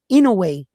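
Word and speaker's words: Inoue: But anyway, Naoya in a way right I'mma tell you right now he actually showed up to Bruce Carrington fight.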